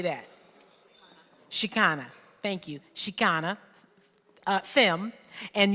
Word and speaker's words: Chicana: Chicana, thank you, Chicana, femme, and uses she, her, hers, Ella, or they, them pronouns.